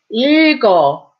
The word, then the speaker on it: 읽어: But when an 이응 follows it, you go this way again. 읽어, 읽어, to read, okay?